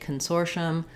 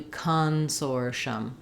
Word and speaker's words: Consortium: with no vowel because when I say Consortium or when anyone says Consortium we don't really do cons or shum we're very short and reduced on that first syllable so you can almost think of it as having no vowel at all Consortium Consortium uh